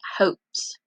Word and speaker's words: hoped: Hoped. And does hoped end with the t sound or the d sound?